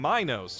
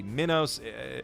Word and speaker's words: Minos: of the evil tyrant King Minos, or possibly Minos. They pronounce it literally every possible way in this dub, and that's a running theme with these movies.